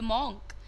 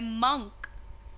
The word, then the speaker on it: monk: अक्सर बोलते हैं ओल्ड मॉन्क, right? Old मॉन्क बोलते हैं, बट दैट इज इनकरेक्ट, क्योंकि ये वर्ड का प्रोनाउंसिएशन होता है मंक.